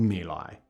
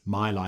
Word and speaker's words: My Lai: place in Vietnam, near a quiet hamlet called My Lai. This is the story of the My Lai Massacre, sometimes mispronounced Mai Lai Massacre, the most shocking episode of the Vietnam War.